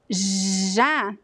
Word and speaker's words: já: Chá, but the word já is very voiced. It's a very strong sound, and all of the cords are vibrating when you pronounce já, já.